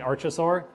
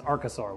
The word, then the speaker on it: archosaur: been pronouncing that wrong I keep saying archosaur but it's archosaur which makes complete sense because of the word route I just never thought